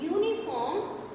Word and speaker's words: uniform: So here in uniform we can hear that it is sounding u, not a.